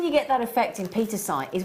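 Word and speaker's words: pietersite: to say it anyway I have got here Peter's height Peter site say it right Xena but wonderfully in rounds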